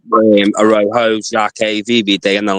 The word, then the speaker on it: Araujo: Yeah, and if you knew some Spanish, you'd know that the J's are her, isn't it? The H.